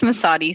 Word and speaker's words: Mazzotti: Is it Mazzotti? Am I pronouncing? Yeah, it's Mazzotti. Thank you.